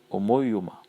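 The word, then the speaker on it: ὁμοίωμα: qui euh non pas guela plutôt euh omouma omoima voilà vous avez compris h o m o i o m a Omo Yoma et ce mot parle de de de conformité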